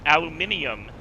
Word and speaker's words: aluminium: word pronounced in English calore and armor but aluminium is how it's properly spelled with a letter i a l u m